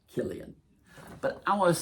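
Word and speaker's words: Cillian: done one thing it's taught the world how to pronounce c l i a cuz I was silly and Murphy for a long time when he was doing the Batman movies I was like and silly and Murphy was in there and then up and H came along and everybody you know learned to pronounce Killian but I want to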